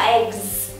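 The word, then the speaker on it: eggs: như thế nào nè một quả trứng là eg và nhiều quả trứng là egs và các bạn thấy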